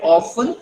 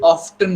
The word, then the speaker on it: often: You can pronounce it two ways. You can call it often, you can call it often also.